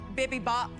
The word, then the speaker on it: bibimbap: This is a coconut jasmine bibimbap.